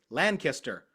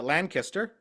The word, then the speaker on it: Lancaster: Oh, no, sorry, Lancaster. I pronounce it Lancaster because that's just what I've heard, but I was told it's Lancaster. That's how the locals pronounce it correctly.